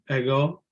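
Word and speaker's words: ἐγώ: I or sit you oh yeah how you pronounce ego yeah okay I go or soup is and remember in Greek this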